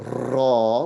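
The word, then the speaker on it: ر: Don't say the raw, which is a little too much rolling, right? On the tongue. So less of that rolling. It is a raw. It's like an R, but it's pronounced with a vowel in it.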